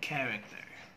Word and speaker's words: character: pronunciation stomach headache character the ch there should have the k sound so it should be stomach headache and character stomach headache and character